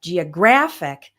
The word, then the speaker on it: geographic: But when we have geographic, the stress changes to right before the IC ending.